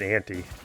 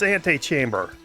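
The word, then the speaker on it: antechamber: Wait, anti. It's ante. Oh my god, cause it's betting, it's ante-chamber. I've been mispronouncing this the entire time.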